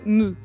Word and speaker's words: mou: Gold, métal mou. Mou. Mou. Yes, métal mou. Métal mou.